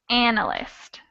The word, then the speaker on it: analyst: analyst in the circle not quite the second actually and now it's in the first syllable so it would be analyst and i'm just going to quickly show you where how it would sound if we change the stress so this word is analyst where we have the first syllable stressed i'm hearing a lot